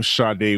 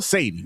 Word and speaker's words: Sade: Well, let's pron it's she pronounced it as Shade, but it's spell Satie. We going to call you Satie, girl.